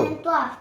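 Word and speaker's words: trois: वहां दो वन दो त्वा वन त्वा क्योंकि थ्री को त्वा बोला जाता है टी ए डब्लू एच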